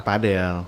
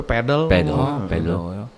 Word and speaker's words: padel: Kalau katanya mah baca cara bacanya padel. Padel. Karena dari Spain, Mexico Oh. gitu. Tapi kalau boleh Amerika mah enggak we pedal.